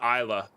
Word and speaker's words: Islay: It's Isla. Gotcha. No, I prefer pronouncing things correctly.